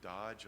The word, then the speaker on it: DOGE: of the advocacy piece, especially the DOGE or the Dodge. I'm not sure. I've heard it pronounced both ways. I prefer to call it Doge so I don't insult the Dodge truck owners, comparing them to some federal agency.